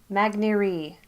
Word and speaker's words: Magneri: magneri magneri officially from the guy who only called all his games last year so I'm assuming he knows how to say the guy's name he also said mags and Maggie were acceptable but just so we're clear magneri okay okay now let's